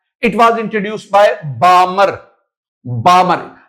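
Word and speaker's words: Balmer: इट was introduced by बामर बामर L silent बालमर नहीं बामर से।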